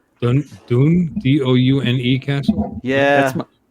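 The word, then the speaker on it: Doune: but fourth bridge is pretty cool oh it's Dune d-o-u-n-e Castle yes right there doing Castle I think um yeah I pretty much pronounced every single Castle wrong that we visited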